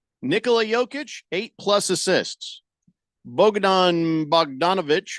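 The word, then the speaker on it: Bogdanović: yic eight plus assists Bogdan bogdanovich or how do you say his name did I say it right b b bdon yeah Bogdan bogdanovich oh I did say it right yeah oh uh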